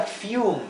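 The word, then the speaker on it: fume: un niño adorable dulce la palabra fium es otro ejemplo fium fium es una sola sílaba sí fium Y es una sílaba eh en la última sílaba que es la sílaba única tenemos la u más una consonante y termina en la letra e por lo tanto el sonido Yu de la u fium fum significa eh vapor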